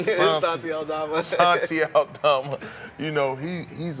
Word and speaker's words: Santi Aldama: But, you know, you got guys like Santonio Aldama. Did I say his name right? Santi. Santi. Santi Aldama.